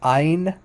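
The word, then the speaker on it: עין: here's the letter i in modern hebrew would just pronounce like ein ein it's not it's there's not it's no guttural it's not guttural at all um so in in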